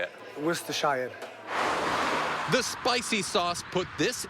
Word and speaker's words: Worcestershire: It tantalizes the taste buds, but pronouncing its saucy name twists the tongue. Worcestershire? Yeah, Worcestershire.